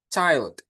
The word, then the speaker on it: child: Dibacanya bukan chill ya, tapi child.